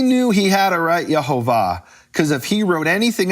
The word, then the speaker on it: Yehovah: He had to write Yehovah because that was known to the Jews as the true pronunciation of the name.